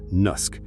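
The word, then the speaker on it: naskh: First up is the big one, a concept called Nusk, pronounced Nusk or abrogation.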